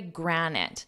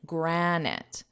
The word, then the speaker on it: granite: Capitan is the legendary Granite now it was in the headline but notice my pronunciation Granite Granite granite and granite is just